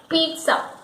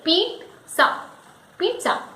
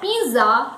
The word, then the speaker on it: pizza: The correct pronunciation for the word is pizza. It is pizza. So here we give a slight sound of T in the mid. We say pizza. It is not pizza or pizza as many people say it.